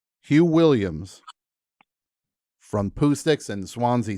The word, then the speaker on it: Swansea: now the new band am I saying it correctly when I say Swansea sound swansee swansey sound that does it yeah okay I'm American